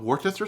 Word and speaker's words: Worcester: Then let's add a few dashes of Worcester sauce. Notice how I did not intentionally mispronounce it for an overused joke.